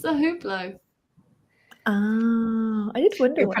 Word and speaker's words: Hublot: And then he was like, so first of all, you do not pronounce the H in Hublot.